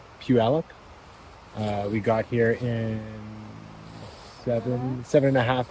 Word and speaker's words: Puyallup: Puyallup. Puyallup.